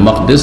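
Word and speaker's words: المقدس: কিন্তু বাইতুল মুকাদ্দিস পবিত্রকারী ঘর না, পবিত্রকারী নয়, ইসিম ফাইল নয়, হয় ইসিম মফুল মুকাদ্দাস আর না হইলে মাকদিস জারফে মাকান। যারা আরবি গ্রামার বোঝেন তাদের জন্য বললাম, দুটো উচ্চারণ ঠিক, আর আরেকটি যেটা প্রচলিত ভুল।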